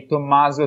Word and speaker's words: Tommaso: having me here so entire I would say to Mazda time we're not Tim but you said it